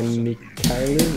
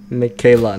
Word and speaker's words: Mikaela: Hi Mikaelu, welcome. So I don't have time to read your name, I might have said it wrong. Mikaela, not Mikaelu, bro, I'm stupid, my bad.